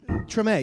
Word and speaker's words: Treme: i mean is that how you say it treme yes it was created by the guys